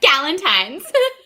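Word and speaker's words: Galentine: gallentine g I still can't say it right gallentine is that how we say it yes gallentine yeah gallentine so uh when and I were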